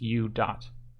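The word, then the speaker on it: u̇: have D DT equals U with a DOT on top and it's pronounced U Dot and then you have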